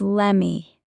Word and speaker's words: let me: Notice how let me often becomes lemmy.